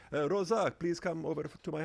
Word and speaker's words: Rosa: Rosa, it's not the A, it's the O. Or if somebody foreign saw your name, they may say, Rosa, please come over to my house, because they don't know.